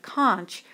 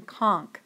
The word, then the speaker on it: conch: civilized Behavior disappears note although I myself prefer the pronunciation of K most dictionaries and professors prefer the pronunciation con fire fire is another